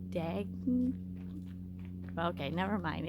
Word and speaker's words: Dagny: Here are some of the walking paths and I'm gonna slaughter this name, but I'm pretty sure it's pronounced Dagny. Okay, never mind. It's Dagny Johnson Wildlife Trails Botanical Trails.